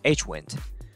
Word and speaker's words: HWND: their handlers and the data type for window handles is hwnd this guy and most of the developers pronounce it as h-wind window handles are returned